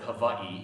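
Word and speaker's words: Hawaiʻi: don't I don't think most people pronounce it Havi even though that's like actually how it's pronounced in Hawaiian I I don't think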